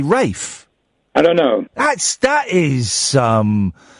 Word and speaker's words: Ralph: We all know it's spelt Ralph, but why do we say Rafe?